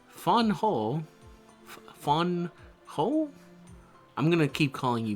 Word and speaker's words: Van Gogh: I love Van Go so much.